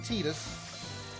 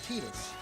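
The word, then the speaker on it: Tidus: titus i i know i know it's officially titus even though even even though squaresoft itself cannot decide how it's actually pronounced because in kingdom hearts waka does admittedly they call him tinus in final fantasy kingdom selfie says titus so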